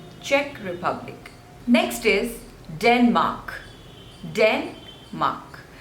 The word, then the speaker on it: Denmark: Republic next is Denmark Denmark so the stress is on the first label Denmark Denmark Denmark Denmark